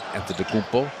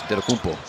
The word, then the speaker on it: Antetokounmpo: The Nazis Antetokounmpo. I'm pronouncing it like visiting announcers, Antetokounmpo.